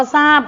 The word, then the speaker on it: ทราบ: คำ ว่า ทรัพย์ เนี่ย จะ มี ท. ทหาร และ เรือ เป็น พยัญชนะ ต้น และ ควบ กล้ำ กัน แต่ เรา กลับ ออก เสียง เหมือน กับ มี ศ. โซ่ มา เป็น พยัญชนะ ต้น ซึ่ง คำ เหล่า นี้ ไม่